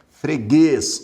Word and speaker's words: freguês: Freguês, oxítona terminada em E, seguida de S. Observe que o circunflexo se deve ao fato de que a pronúncia é fechada, freguês, é uma tonicidade fechada, por isso o circunflexo.